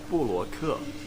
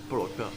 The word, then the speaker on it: 布罗克: 布罗克. There you go. Because your English pronunciation is Brock. Yeah. 布罗克. So similar to your pronunciation. Yeah. Yeah, Brock, 布罗克.